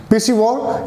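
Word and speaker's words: piscivore: Next called the पिसिवोर या पीसी, इसका उच्चारण है पीसी, पिसिवोर या पिसिवरस।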